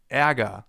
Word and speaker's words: Ärger: It's pronounced like this. Ä, as in Ärger, the German term for anger. And anger actually contains a sound that comes pretty close.